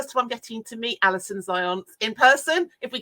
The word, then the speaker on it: Zionts: book first of I'm getting to meet Alison Zions in person if we call this in person and please tell me you have pronounced your last name wrong there Alison um